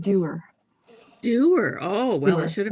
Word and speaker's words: Dewar: a whiskey drinker, you'd probably have heard the name because there's a Dewar's Scotch whiskey.